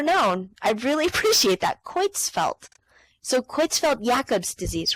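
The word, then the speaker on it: Creutzfeldt: would like that okay it is pronounced quelt quelt how pronounced thank you so much I would have never known I really appreciate that quits felt so quits felt yacob's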